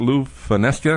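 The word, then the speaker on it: Lew Fonesca: that's based around Sarasota don't you is that Lou fesa am I pronouncing that right you got it right okay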